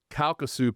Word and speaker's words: Calcasieu: So when they got started with their very first facility, the Calcu Pass, I can't pronounce that word, the Calcasieu Pass.